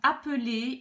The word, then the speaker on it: appeler: Appeler, un seul L, je prononce ce E là, E, appeler.